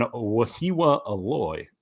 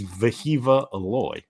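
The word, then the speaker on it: Wehiwa Aloy: press conference he says throw the W's out focus on the V sound it's viiva aloy and now he's Veo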